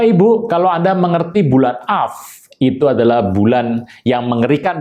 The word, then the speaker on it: Av: ini saya membahas mengenai bulan AF atau dalam bahasa asnya bulan AB up up atau saya bacanya AF Bapak Ibu kita mengerti